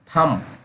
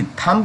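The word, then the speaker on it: thumb: थम, यहाँ पे वी, थंब नहीं पढ़ेंगे, इसी से थम पढ़ेंगे, THUM, थम। थम मीन्स अंगूठा, हम सभी लोग जानते हैं।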